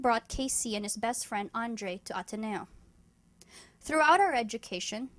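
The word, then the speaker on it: Andrie: Casey and Mark Andre spelled a n d r i e but pronounced Andre though delin asks me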